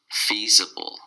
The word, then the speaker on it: feasible: fee fees Bowl feasible three syllables and the stress is on the first syllable fee the bull see